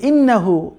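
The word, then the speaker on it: إِنَّهُ: তবে দেখুন এখানে খুবই ইন্টারেস্টিংলি এই যে ইন্নাহু, এই ইন্নাহু হায়ের মধ্যে কিন্তু আমরা যে উল্টো পেশ পড়ে এসেছি, উল্টো পেশ থাকলে এক আলিফ পরিমাণ টেনে পড়তে হয়, সেটা কিন্তু এখানে একটা উদাহরণ আপনি দেখতে পাচ্ছেন, ইন্নাহু কানা তাওয়াবা।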